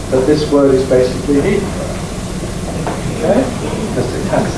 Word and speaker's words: Heathrow: Is it Heathrow or is it Heathrow?